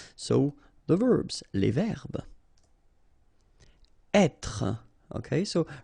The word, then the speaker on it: être: Être. Okay, so remember that when you get this accent circonflexe here, you should really pronounce it openly.